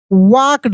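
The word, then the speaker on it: walked: तो castle with a happy, HAPPY, happy, smile, SMILE, smile, as ही वॉकड। अब देखिए यहाँ पे एल साइलेंट है, क्या है, एल जो है यह साइलेंट रहेगा, यानी एल का उच्चारण नहीं होगा, यानी इसको पढ़ देंगे वॉकड, ठीक है।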